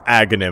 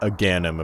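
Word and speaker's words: Agahnim: that are different yeah it's Agony not aanm apparently I was wrong about the pronunciation I thought that was a I thought I was spot on because you know it sounds like Ganon since they are the same person but I guess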